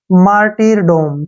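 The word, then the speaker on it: martyrdom: लिखेंगे अरडम ठीक है इसको पढ़ेंगे हम डोम मार्टर डोम ठीक है ना इकट्ठा पढ़ेंगे मार्टर डोम मार्टर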